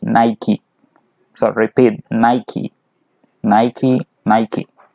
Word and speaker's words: Nike: Nike by the way Naik negative point in English pronunciation is not nice pronunciation its Nike so repeat Nike Nike